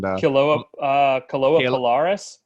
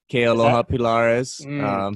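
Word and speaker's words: Kealoha Pilares: And Kaloa Pilaris? Kealoha Pilaris. Yeah. I'll save you the pronunciation there, but yeah, Kealoha Pilaris.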